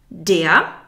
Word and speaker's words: der: Der, the R is not pronounced.